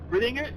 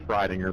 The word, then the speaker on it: Fridinger: the night is Brittinger. Did I say that correct? Yeah, close enough. That's the way everybody else pronounces it. It's Fridinger, but yeah, close enough. Well, Fridinger, pardon me, and well done.